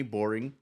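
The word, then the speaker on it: Boreing: a guy named Jeremy Boring? That's really his name. Boring and his last name. Like that's his literal last name. It's spelled differently, but it's like it's he's pronounced boring.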